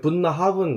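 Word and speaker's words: Bunnahabhain: 있니다 게일러 참 어려워요 뭐 부나하벤 뭐 분나 하은 뭐 이렇게 얘기하는데 가서 들어보니까 발음이 분나 하은 뭐 이렇게 발음을 하더라고요 여기는 또 클라다이니 뭐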